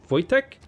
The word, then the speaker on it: Wojtek: know sometimes W's in W is in Polish and sometimes German I think I pronounced like a V so like I knew a guy whose name was voice check but it was spelt with it W was like wo AI TJ e CH Wojtek Wojtek voice check I